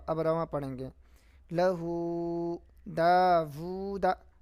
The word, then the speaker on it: داوود: رواں پڑھیں گے لہو داوود داؤدا نہیں داوود واو ہے رسولہ آیاتہ